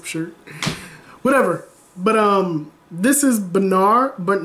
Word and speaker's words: Berna: Berna! Get the lamp clock out! I know I said it right, Berna.